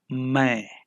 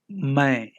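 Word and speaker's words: मैं: I in Hindi is my my the last n is only pronounced half and none of the letters are stressed it is like how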